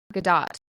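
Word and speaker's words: Gadot: um so now gal gdau is that how we say her name name been say wrong have seen recently that you do pronounce the T Gat yeah anyways she is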